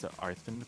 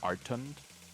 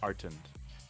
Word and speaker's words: Artund: I was pronouncing it as Arthund before, but is it just Artund with no H?